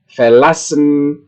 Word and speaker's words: verlassen: Di sini adalah penekanan pengucapannya itu berada di bagian yang saya cetak tebal di tengah, ya. Beginnen, erklären, verbessern, verlassen, verstehen, wiederholen, ya. Itulah, ya.